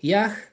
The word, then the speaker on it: Yah: Es el nombre sagrado que aparece en las escrituras que se pronuncia ya, ¿vale? Porque el Hei final, al final de una palabra nunca se vocaliza, sería ya, Yod-Hei, ¿vale?